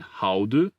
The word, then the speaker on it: houden: Another diphthong that might be difficult is the sound made by AU or OU, which is pronounced like this, au. It can be found in houden, which means to like, and goud, which means gold.